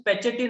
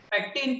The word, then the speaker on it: pectin: p is for pectin most of people they used to pronounce patchatin also because due to spelling so can you again pronounce them also pectin pectin oh lazy people